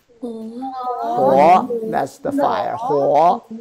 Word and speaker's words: 火: How to pronounce this? Mu. Mu. Four to mu. And now, fire here. Huo. Huo, that's the fire.